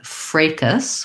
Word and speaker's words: fracas: So one is fracas with an A, fracas tense A.